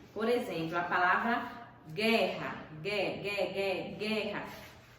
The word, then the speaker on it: guerra: Por exemplo, a palavra guerra. Guerra. Foi pronunciado o U do guerra? Não.